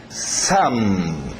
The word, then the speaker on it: some: Some. Some. Parece filho, son, com N.